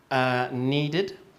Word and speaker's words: needed: audio recording okay next needed needed needed needed all right yes it sounds like an ID needed all right and